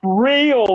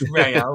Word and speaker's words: Real: It's and pronounced Real Madrid. Yeah, Real. it's not pronounced Real. It's real.